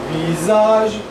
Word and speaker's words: visage: Yes, and vis, it's a Z actually. Le sombre. Sombre visage. Visage.